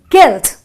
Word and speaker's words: guilt: You have another word with the same UI, which is guilt, just a guilt.